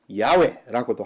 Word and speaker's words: 야훼: 여호와, 또 다른 발음으로는 야훼라고도 하지요.